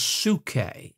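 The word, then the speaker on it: ψυχή: written in Greek the the Greek term is suke suke you would spell it p-s-u-c-h-e suke now here's what can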